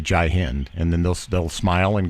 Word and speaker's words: Jai Hind: Yeah, Jai, Jai Hind. That's how you pronounce it.